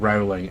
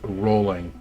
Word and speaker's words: Rowling: times to Americans that her name is not Rowling, it's Rolling. Because it rhymes with rowing, like what you do on a boat.